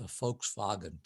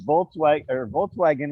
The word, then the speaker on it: Volkswagen: If I'm perfectly willing to talk about whether or not there really is a Volkswagen parked out front or not.